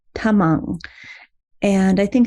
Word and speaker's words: Tamang: And that's T is not a T, it's a soft T, Tamang.